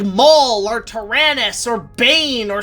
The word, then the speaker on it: Maul: You shall be known as Darth Maul. I think that'd be a better name for me, master. Do you prefer that or everybody when this movie comes up mispronounces it as mule?